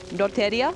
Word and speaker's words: Lotteria: That's Lotteria? Yeah, that's how it's pronounced in Japanese.